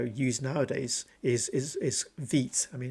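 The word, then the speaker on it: Vite: nowadays is is is vit I mean it's called um actually let me let me show you vit it's pronounced V is apparently it's a French name or it's a French word and uh next next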